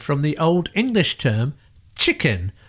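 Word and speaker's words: cicen: the old English term chicken spelled c i CC e n but pronouncing that first c as CH where it is used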